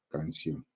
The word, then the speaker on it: canción: Lo mismo en la palabra canción, ¿no? Termina en consonante, ya tiene su tildecita ahí.